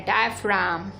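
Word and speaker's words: diaphragm: इसमें देखो जी क्या है? जी साइलेंट है, डायफ्राम, ठीक है।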